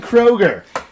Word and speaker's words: Kroeger: I keep saying Kroeger.